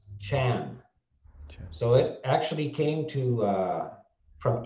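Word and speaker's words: 禪: In China, Zen is pronounced Chan.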